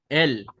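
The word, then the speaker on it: אל: एल के लिए, आलेफ के लिए हम आलेफ को जैसे साइलेंट में है, फिर सेरे क्या है, ई है, और लामेद क्या है, एल है। तो वो क्या बन गया, एल।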